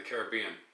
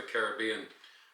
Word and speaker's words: Caribbean: right there in the caribbean or caribbean however you like to pronounce that word i'll just give it to you both ways how's that so yeah